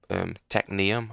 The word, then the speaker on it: Technium: So I think the actual automating of Techium stop. Technium. I've been saying it wrong. Oh my god, there's an N in there. Technium. Once we get past the automation